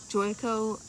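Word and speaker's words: Joico: hair uh color intensity i don't know how it's pronounced but the brand is spelled j-o-i-c-o joyco but it's color intensity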